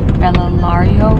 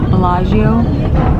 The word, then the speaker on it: Bellagio: Lake Como, and we're on the way to Bellario. I think it's Bellagio. How you say it, Bellagio.